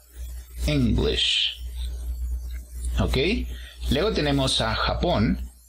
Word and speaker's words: English: Y para decir inglés, que sería la nacionalidad, también encontramos el apóstrofo al inicio, ¿no? En la primera sílaba. English. Ese sonido de sh al final tiene que escucharse para pronunciar esta palabra English.